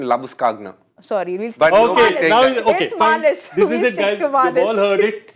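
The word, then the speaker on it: Labuschagne: couldn't pronounced yesterday but he's actually not called lausen his right pronunciation labus kagna sorry we all heard it laush kagna is it that's what we going to stick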